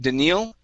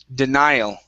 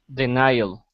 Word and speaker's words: denial: and next is the word denial instead of daniel denial denial okay very nice next up we have the